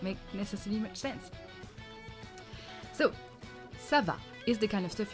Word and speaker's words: Ça va: Ça va. At the end of French questions, you have to go up. In most languages, it's like that. Ça va?